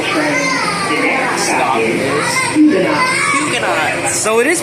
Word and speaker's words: Huguenot: The next stop is Huguenot. So it is pronounced like that.